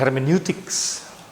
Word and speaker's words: hermeneutics: Hermeneutik orang Jerman suka membacanya hermeneutik gitu tuh. Tapi orang Inggris menyebutnya hermeneutics. Hermeneutics gitu kan ya.